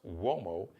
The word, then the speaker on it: Uomo: Bruce Gage, Mario Uomo, is on Instagram, pronounced Uomo. It's an Italian surname, so it's got the like a W-O sound, but it's spelled U like umbrella, O like Oprah, M like Mary, O like opera.